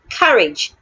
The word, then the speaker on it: courage: I have courage. The letter A in that word sounds a. Courage.